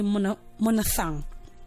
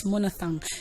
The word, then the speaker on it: monophthong: Growing up, I was told that word is pronounced as monophthong, so I knew it that way until I found out that there is a sound missing in that pronunciation, and that is the f sound. So you rather say monophthong.